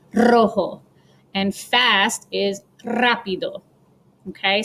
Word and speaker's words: rojo: of the word but if a word starts with an r you roll it rojo and i'm going to